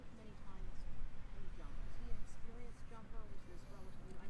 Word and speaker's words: Labrie: It's how I pronounce it may not be absolutely correct, but it's Labrie.